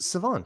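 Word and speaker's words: Shavon: It's Revel and it's Savon. You don't pronounce the H.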